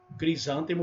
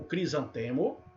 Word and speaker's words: crisântemo: Você pode falar acrobata ou acróbata, crisântemo ou crisantemo, oceania ou oceânia, réptil ou reptil, projetil ou projétil. Então essas duas variantes, nessas palavrinhas aí, e mais algumas, tá?